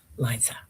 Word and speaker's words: Liza: So, yeah, Liza, like Liza Minnelli, right? Yeah, beautiful.